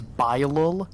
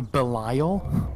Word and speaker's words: Bilal: the year also sam that is bilal not a belial okay cool remember when